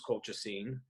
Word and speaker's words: colchicine: And I guess over the last couple of years, I've written about, and I think it's pronounced colchicine.